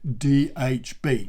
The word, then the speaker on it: dhb: reaction clothing and you make sure that you pronounce it in the correct way which is day h bay right only in other parts of the world are you allowed to say dhb but in britain we always say day h